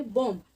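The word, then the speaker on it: bomb: Friends, इसको बॉम्ब नहीं पढ़ा जाएगा, इसे हम पढ़ेंगे बॉम्ब. इसमें बी साइलेंट होता है, बॉम्ब.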